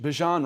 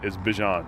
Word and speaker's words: Bijan: I guess my name, how you pronounce my name is Bijan. Okay. Like, that's how you say my name. But I say Bijan.